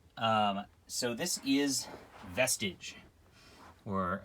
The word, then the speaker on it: Vestige: um so this is vestige or uh i like to mispronounce it vestige like prestige right um the story of